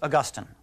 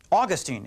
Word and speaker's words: Augustine: That's Augustine, or Augustine, if you want to call him that. That's a perfectly respectable way to pronounce his name.